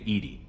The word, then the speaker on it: EDI: airlock is a jar why are you named Edie Ed is the phonetic pronunciation of Ed that is an acronym for